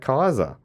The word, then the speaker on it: Caesar: and not only that the latin word was probably pronounced just like kaiser with a hard c instead of a soft one so he said so